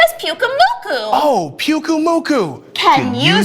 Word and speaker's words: Pyukumuku: How do you pronounce the name again? Her name is Pyukumuku.